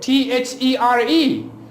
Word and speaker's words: there: You pronounce it like there. Well, when you say there, you make a lot of other mistakes besides this. Like you pronounce the R, which should never be pronounced at the word find the position.